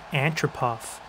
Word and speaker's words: Antropov: that's right boys nick freaking andropov or how you properly pronounce it in russian nick antropov he's played 13 years